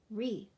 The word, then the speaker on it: wreath: Wretch, wreath. Rung, gnat, gnaw. Good job, guys. So you can note in all of these words that the first consonant is silent.